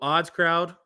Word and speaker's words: OddsCrowd: So OddsCrowd, you can follow them on Twitter as well. It's just as the word says, phonetically, ODDSCROWD, OddsCrowd.